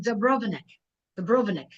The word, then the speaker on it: Dubrovnik: How do you pronounce it? Dubrovnik.